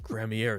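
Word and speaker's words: Gramarye: you forever and zach cramier is the uh suspect dude saying his last name is pronounced like enigma with an extra r and so okay okay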